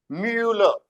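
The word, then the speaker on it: Müller: Hurun, और ऊ को जैसे बोला ही था हमने, म्यूलर, म्यूलर, म्यूलर, ह्यूलर, है ना।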